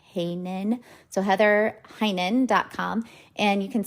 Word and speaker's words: Heinen: So then Heinen is spelled Heynen, like Heinen.